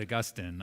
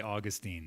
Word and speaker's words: Augustine: Now, you said Augustine. I say Augustine. So just in case there's any confusion there, mine's the right way to say it.